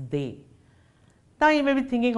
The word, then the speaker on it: des: But les, de and les will combine and give us des, pronounced as they.